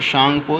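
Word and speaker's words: Tsangpo: ब्रह्मपुत्रा को तिब्बत में शांगपो, यहाँ पर टी साइलेंट है, शांगपो नदी के नाम से जाना जाता है।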